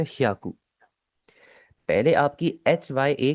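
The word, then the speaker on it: ひゃく: देखिए एक चीज मैं आपको पहले ही बता देता हूँ, मैंने देखा है कि काफी ज्यादा जो लोग हैं ना वो इसे प्रोनाउंस करते हैं हायाकू।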